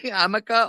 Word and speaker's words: Jamaica: Like, because I was like full on feeling stupid because I thought she was just not pronouncing Jamaica correctly. Hamaka, okay.